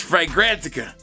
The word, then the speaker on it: Fragrantica: Is it Fragrantica? I did it! I said it right, guys. Fragrantica.